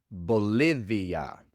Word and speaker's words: Bolivia: Así que Bolivia se pronuncia Bolivia.